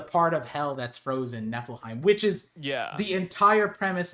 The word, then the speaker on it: Niflheim: And then people are like, it's Niflheim. And I was like, what?